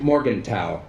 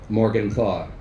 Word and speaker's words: Morgenthau: In German, our last name would be pronounced Morgenthau. He insisted on the Americanized Morgenthau.